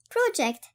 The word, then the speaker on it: project: Project تعني مشروع، وإن كانت فاعل فهي تلفظ project، وقد تعني يتصور ويخطط ويقدر، وقد تعني يسقط.